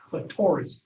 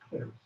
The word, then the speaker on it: clitoris: Sometimes that people pronounce that clitoris, but it's actually clitoris.